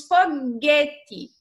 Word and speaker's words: foguete: o não é pronunciado ao exemplo nós temos foguete se você tirar se pronunciasse com o ficaria fogo este né não